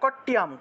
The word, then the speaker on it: কট্যাম: কাট্যাম কাট্যাম ঠিক আছে কট্যাম কয়ের সাথে ট ছিল জফলা ছিল রস্বইকার ছিল সরি রস্বইকার নয় কয়ের সাথে ট ছিল জফলা ছিল ঠিক আছে আকার ছিল অনুস্বার ছিল তাহলে কট্যাম উচ্চারণ হবে কট্যাম ভগবতী রক্ষেত कट्यम भगवती रक्षेत